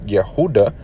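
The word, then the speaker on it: יהודה: the kingdom's hebrew name yehudah judah in english pronounce yehudah beget jew the earliest reference to the kingdom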